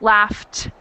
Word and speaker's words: laughed: one well excellent so we have the F sound for the GH laughs and the ED sound doesn't make a syllable so it's laughed sounds like a tea I've got one more